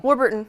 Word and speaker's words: Warburton: Hi everybody, welcome to Hairdresser and we have, how do you say your last name? Warburton? Warburton, yeah. Warburton, I was good, right? Yeah, that's right.